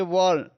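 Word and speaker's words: burn: यहाँ पे बी में जुड़ा अर्न, तो इसको आप पढ़ेंगे वर्ण, वर्ण, वर्ण यानी कि जो आर है उसको थोड़ा साइलेंट रखेंगे।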